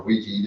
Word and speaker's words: Ouija: So it's a Ouija board, or Ouija, depending on what part of the country you're from.